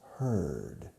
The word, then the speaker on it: heard: Now the past tense is heard. The pronunciation changes. And it's like ella for her with a D at the end.